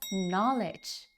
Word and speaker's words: knowledge: No, it's not knowledge. It's pronounced as knowledge. Knowledge. You see, the K is silent, and the word means information or things you learned.